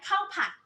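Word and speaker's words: ข้าวผัด: How do you say right? Cow. Fried rice. Cow pat. Cow pot. Yes.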